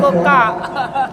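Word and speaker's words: Coocaa: Kalau nonton TV cocok bacanya Koka. Tulisannya cocok. Koka. Bacanya Koka.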